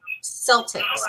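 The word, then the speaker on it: Celtx: look like you can use a program called Celtics now a lot of people they pronounce it differently but it's spelled something else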